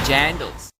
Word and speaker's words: jandal: Zealand they call them jandals as a jandal it like rhymes with sandals like jandal sandals jandal yeah yeah jandal that's quite